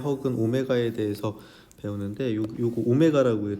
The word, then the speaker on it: 오메가: W가 아니라 요거 오메가입니다. 오메가. 이게 알파, 베타, 감마, 델타, 오메가 이렇게 되는 겁니다. 그 알파 베타 할 때 거기서 나오는 오메가거든요. 그래서 오메가라고 읽어주시면 돼요. W라고 읽지 마시고, 알겠죠?